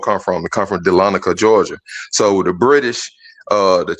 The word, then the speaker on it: Dahlonega: I don't know if you could pull it up on the screen, Gans, and spell it to them again. It's Dahlonega. It's Dahlonega.